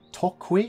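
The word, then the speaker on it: Toqui: He also gets this, the Mapuche, sorry, as a civ, get Tokwi, I think it's pronounced.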